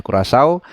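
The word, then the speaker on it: Curaçao: Nasional Indonesia menghadapi kurasau ya bacanya kurasau yang akan berlangsung Hari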